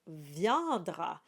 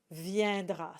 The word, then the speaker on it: viendra: And this one is a bit strange because the I comes before the E. And so you would think that this would be pronounced viendra, but it's not. It's pronounced viendra. So it's just one of these things that you just need to know.